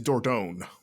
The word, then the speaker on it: Dordogne: I'm going to totally butcher this, but Dordogne? Is that how you pronounce it? I believe it's Dordogne.